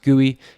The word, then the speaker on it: GUI: modern operating systems use a graphical user interface pronounced gui a gui lets you use your mouse to